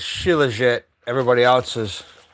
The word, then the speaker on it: shilajit: I call it Shiat, but it's Shilajit.